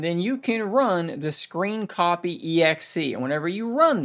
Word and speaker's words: scrcpy: And I know that that says SCR CPY, but it's pronounced screen copy.